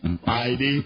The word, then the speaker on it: Heidi: I don't pronounce the H. Heidi.